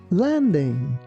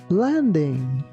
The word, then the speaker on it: landing: Here again, be careful not to put too much stress on letter G. We don't say landing, we say landing.